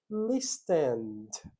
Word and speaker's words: listened: Então eu tenho listen. Vocês podem pensar dessas maneiras, né? Mas eu não pronuncio. Listened, ok?